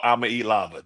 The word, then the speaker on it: Iamaleava: Iamaleava. No, it's Nico Iamaleava.